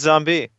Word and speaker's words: zombi: e on that okay there's no E I will pronounce it zombi till the I die what if you pronounce it in Italian that's true but I'm not Italian I'm American all right Amer the words don't end an i in English do they really can can I go now oh no they they do mini mini m n yeah look at this Z by no Mi n is pronounced mini so it's zombie I'm glad we're off